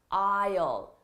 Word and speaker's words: aisle: going to see an aisle, Don't let the spelling confuse you. The spelling and the pronunciation are very different. It's pronounced aisle, okay? Now, if you sit closest to the aisle, that is the aisle